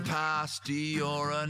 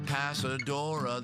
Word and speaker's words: Pastora: then he learned that it's pastora not pasadora the a was in the wrong place what an [ __